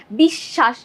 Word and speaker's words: বিশ্বাস: ঠিক আছে, বফলার কারণে আমাদের বিশ্বাস মাঝে যখন ছিল, দেখো এই বানানটাই দেখো, বিশ্বাসে বফলাটা আছে মাঝে, যখন মাঝে থাকে তখন আমরা উচ্চারণ করছি কি বিশ্বাস, দুইবার শয়ের উচ্চারণ করছি।